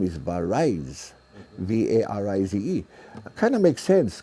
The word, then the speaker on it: Varize: entertainer, he made it, the real pronunciation is V-A-R-I-Z-E, Varize. Varize. See? But then, you know, in Hawaii we say Varize.